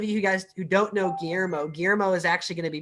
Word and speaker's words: Guillermo: Oh man, it's so like I cringe down my spine whenever I hear someone pronounce the L's as L.